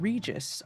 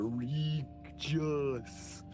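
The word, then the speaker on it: Rigus: and the city of Regus, R-I-G-U-S. Really stretching the phonetics of those letters there. Regis.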